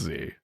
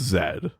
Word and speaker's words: Z: listen he's right though only americans say that it's z the rest of the english-speaking world has spoken it's zed get on board america